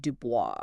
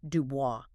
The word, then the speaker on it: Du Bois: It is Dubo with a hard accent on the last syllable.